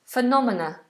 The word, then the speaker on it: phenomena: Julia says, how do you pronounce phenomena?